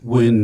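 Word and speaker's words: Nguyen: Win is the closest.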